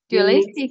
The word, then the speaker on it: dualistic: yeah branch yeah that this dress is on the second syllable to do dualistic dualistic mind yeah religious mind